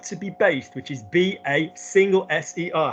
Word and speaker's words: baser: be based, which is B-A-S-E-R. How do we pronounce that word? Baser. Good. Don't drag it on. Don't make it baser because it becomes an S. Baser. It needs to be shorter.